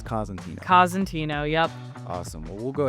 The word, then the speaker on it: Cosentino: I was wondering how you pronounce that. So, it's Cantino. Kazantino.